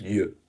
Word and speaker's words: yeux: Now, on the sixth note, another very common irregular plural is the masculine noun for the eye, l'œil, which becomes les yeux, pronounced yeux.